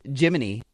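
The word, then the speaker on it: Gemini: Astronauts also received custom wakeup songs from mission control each morning, a tradition dating back to the, it is pronounced, Jiminy missions.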